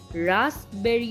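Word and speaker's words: raspberry: psychology में पी तो है पर साइलेंट है, निमोनिया में भी पी है लेकिन साइलेंट है, रास्पबेरी में रास्पबेरी नहीं पढ़ेंगे, रास्पबेरी पढ़ेंगे, सूडोपोडिया में भी पी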